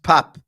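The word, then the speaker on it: Pape: redline teranga says for the billionth time it's pronounced Pap Pap mesar happy now Redline teranga can you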